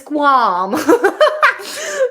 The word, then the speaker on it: qualm: no I had no the pronunciation is quam F yeah the pronunciation of this word is quam and I've got a